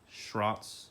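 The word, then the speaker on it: Schroth: I have, and per Schrott's, I think Schrott is how you actually pronounce it.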